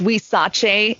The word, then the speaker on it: Huizache: your journey into cheese making right so it's we Sachi is a type of tree that grows prolifically